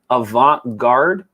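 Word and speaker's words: Zaila Avant-garde: three different times zayla avant garde oh no they pronounced her last name avant-garde ivanka just like the okay but is her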